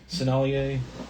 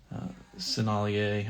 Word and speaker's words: Sennelier: Sennelier, I think it's how it's pronounced. That's French.